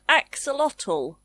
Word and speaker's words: axolotl: My favourite part is the ending. Lotl. Axolotl.